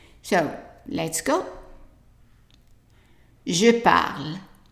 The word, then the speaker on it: parle: Je parle. And remember the E here is silence.